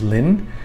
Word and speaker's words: Linh: the woman's name is Linh because it's pronounced the same way in Vietnamese as it is in English, to keep it simple.